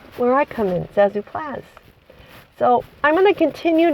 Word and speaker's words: Plazz: I come in Zazu plaz so I'm going to continue to to use Know My Name the name plaz plasic I'm going to pronounce it plaz because plaz rhymes with zaz and you know that's